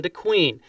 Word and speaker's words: DeQueen: We couldn't pronounce it that way, so everybody called it DeQueen, such as DeQueen, Arkansas, named after him.